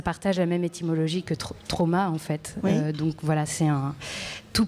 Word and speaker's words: Traum: Ouais, je dis Traum parce que je le prononce en allemand, ça signifie rêver.